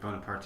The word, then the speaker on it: Bonaparte: Bonaparte, it's just pronounced Bonaparte in French. No, it's Bonaparte in Italian because he was actually Italian.